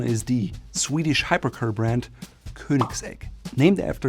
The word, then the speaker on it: Koenigsegg: To me, it sounds like Koenigsegg. Again, Ö and not a very pronounced G at the end.